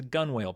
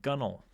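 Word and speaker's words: gunwale: Um that's a it's a gun whale, but it's pronounced gunnel.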